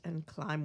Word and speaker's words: climb: Thank climb. Well, right away we notice there's a silent letter in climb.